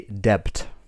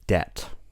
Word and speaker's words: debt: Bomb, comb, dumb, thumb, debt, and doubt. In all of these words, we don't pronounce the letter B. It's silent. For example, we don't say debt, we say debt.